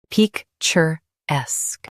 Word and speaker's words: picturesque: Both US and UK have the same pronunciation of this word, picturesque. Now read the syllables shown on the screen naturally. Peak, chur, esque, picturesque. Stress esque. Keep peak soft.